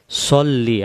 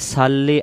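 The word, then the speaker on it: صَلِّ: আল্লাহুম্মা সল্লি আলা, আমরা এটা বলি সাল্লি আলা, এটা হবে সল্লি, সদ জবর স। আর যদি আমরা বলি সাল্লি আলা, তখন এই সদের জায়গায় সিন উচ্চারিত হবে।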